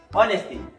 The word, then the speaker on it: honesty: Honesty, the H is silent.